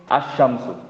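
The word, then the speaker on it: الشمس: अद्दीनु अशम्सु, यहाँ अलिफ लाम का लाम प्रोनाउंस नहीं हो रहा, ठीक है।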